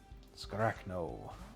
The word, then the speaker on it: Scarachno: Scarachno. Oh, yeah, that is how you say that. Yeah, like Iraq.